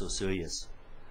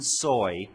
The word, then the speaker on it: Osoyoos: there doing her talks, she could pronounce Osoyoos. How great was that? I didn't hear one soy in the whole weekend.